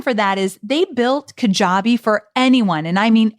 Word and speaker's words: Kajabi: any level i want to introduce you to kajabi i call kajabi the mack daddy of all